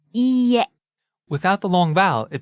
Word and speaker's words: いいえ: And be careful when you say いいえ. It has a long E sound. It's spelled E-E, but it's pronounced E. It's a long vowel. Right. いいえ.